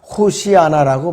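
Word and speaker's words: הושענא: 그래서 이 호산나는 원래가 히브리어로는 호시아나라고 발음을 해요. 호시아나.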